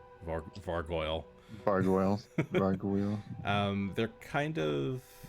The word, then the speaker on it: Vargouille: They are Varguiles. I hope I'm pronouncing that right. Like gargoyles, but with No, it's Vargouille. Varguile. so actually kind of like gargoyle. Yeah, but with kind a of.